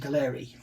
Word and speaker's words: Gaahleri: This company here, I pronounce it Gaahleri.